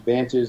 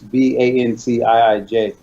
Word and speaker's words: Vantiij: So it's pronounced Vantage like you normally would, Vantage. But we wanted to do it unique. So it's Vantiij.